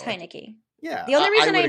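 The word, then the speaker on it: Heinicke: have sometimes double check how does it it's high nicky yeah the only reason i know it is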